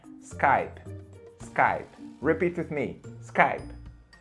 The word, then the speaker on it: Skype: gente falando Skype Skype né enfim mas a pronúncia certa no inglês americano é Skype Skype repeat with me Skype alri muito bem